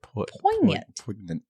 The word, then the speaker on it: poignant: poignant poi point yet i don't think you pronounce the g i didn't void oh well now i can't say it poignant that i think that